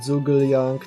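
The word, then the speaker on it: Zhuge Liang: I patrz, ty sobie usunąłeś Lostwarda, a ja dopiero co dropnąłem Zhuge-Liang Tewi.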